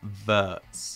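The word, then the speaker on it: Wirtz: of 17 year old Florian verts my pronouncing that right verts yes spot-on what a way to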